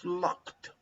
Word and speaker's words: locked: codes no no vibration you don't pronounce the ed but like a t like i know it